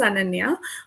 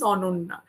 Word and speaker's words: Ananya: So basically the pan Indian pronunciation is ana but since my name was essentially Bengali the pronunciation is ona.